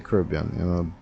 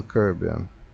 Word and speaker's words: Caribbean: By the way, how do you say it? Caribbean or Caribbean? I hear a lot of people from the northern islands saying Caribbean. To me, that's the North American way to pronounce it. I say Caribbean because I believe, I'm not a historian, but the word Caribbean comes from Carib, not so? Carib, not Cara. Anyway, so school on the right.